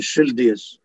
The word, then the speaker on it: Schilthuis: It's written like this, but they pronounce it Schilthuis.